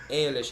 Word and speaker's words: Eilish: of like eyelash or something. Eyelash. That's it, yeah.